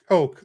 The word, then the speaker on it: Koch: Oh, so Deuce says I believe it's pronounced Coke, like the soda.